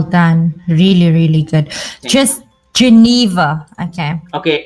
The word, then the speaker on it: Geneva: Just Geneva. Okay. Okay, it's a country name, right? Yes, Geneva, it is.